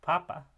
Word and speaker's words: papa: it creates meaning differences so in Spanish you have stressed syllables that are higher and slightly louder um in terms of their um loudness and Pitch so you have a word like Papa which means dad however if you were to stress the first syllable of those segments that those syllables you'd have Papa which means potato or pop um and